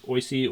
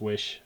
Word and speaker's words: Oysi: two frames right now there's the oisi or which i think is supposed to be pronounced wish inline skating chassis and